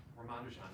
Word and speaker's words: Ramanujan: of all time ramanujan i say it like that i've heard that ramanujan rahmandijan just flows nicely i'd have to hear rahmandejan himself say it to know but ramanujan uh